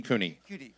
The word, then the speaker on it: CUNY: so here you're it am I saying it right Cooney or a Sunni Cooney okay there you go I'm at